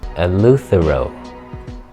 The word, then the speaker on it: Eleuthero: Eleuthero. That's how you say it.